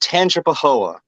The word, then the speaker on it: Tangipahoa: Yeah, that was that is pronounced Tangipahoa.